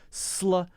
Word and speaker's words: slow: sound that's the challenge slow slow slow slow you have to jump to the next thing very quickly you cannot make a space because it's not an extra syllable it's not a loft